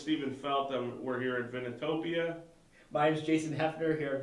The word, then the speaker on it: Vinotopia: Vinotopia. V-I-N-O-Topia. Vinotopia. Like Vino. Vino wine, is wine. and Topia. Topia is like utopia. The perfect wine.